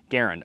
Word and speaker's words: Garand: Garand.